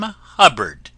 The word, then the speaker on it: Hubbard: friends this is wonderful Dame Hubbard named that always rhymes with cupboard ever going out to